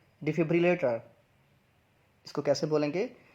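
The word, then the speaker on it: defibrillator: तो इस वर्ड की प्रोनाउंसिएशन है डिफिब्रिलेटर। इसको कैसे बोलेंगे, डिफिब्रिलेटर।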